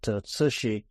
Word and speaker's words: Cixi: The Empress Dowager, whose name was Cixi, it's a hard name to pronounce, but Cixi.